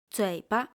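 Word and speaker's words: 嘴巴: The second word loses its original tone, fu, and become neutral tone. bízi Nose. The second word loses its original tone, zi, and become neutral tone. zuǐba Mouth.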